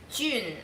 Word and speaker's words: jun: dad chose it because his chinese name has a character in it that's pronounced jun and it's spelled j-u-n